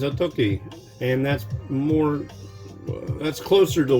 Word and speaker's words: Otoki: your day, you might notice it's not saying Otogi, it says Otoki, and that's closer to the way it's actually pronounced, like Otoki.